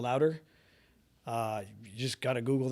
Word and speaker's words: Lowder: last name is pronounced louder l o wde r just yell louder uh you just gotta Google that okay so C designation.